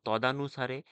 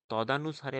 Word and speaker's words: তদনুসারে: দেখো তদানুসারে, তদানুসারে বানানটি তদা হবে না, হবে কি তদনুসারে।